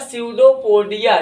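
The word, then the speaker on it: pseudopodia: इसका क्या होता है, स्यूडोपोडिया या नकली पैर। स्यूडो पी साइलेंट होता है, हिंदी में बोलते हैं कूटपाद, या आप लोकल भाषा में कह सकते हैं नकली पैर काहे बोलते हैं।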